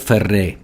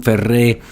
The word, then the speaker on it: Ferré: Either way, it has an accent on the end, so it's not Ferré, right?